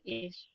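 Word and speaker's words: איש: Nah, terus ini ada alef, terus ada yod, ada sin. Jadi bacanya jadi jadi apa? Apa? Oh, is. atau S. Is. Is. Is itu apa?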